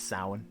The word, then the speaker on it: Samhain: Happy Samhain. Or whatever. I think it's Samhain. I think that's how it's pronounced. I said it right. Okay, got confirmation from the other room.